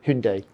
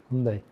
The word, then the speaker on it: Hyundai: up working with h who Hundai it's now pronounced isn't it yeah Hundai Hundai and we started off doing